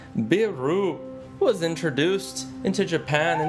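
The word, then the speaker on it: ビール: most popular alcoholic drink in japan pronounced beeru was introduced into japan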